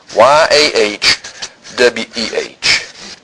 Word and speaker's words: Yahweh: no vows in Hebrew but it will be pronounced y a h we H not Jehovah we're going to talk about that